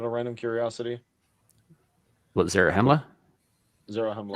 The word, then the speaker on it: Zarahemla: Zarahemla. Sound it out. Pretty much how it's spelled, or how it sounds.